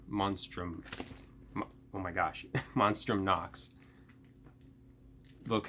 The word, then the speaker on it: Monstrum Nox: I probably just butchered that name. No, I said it right. Monstrum Nox.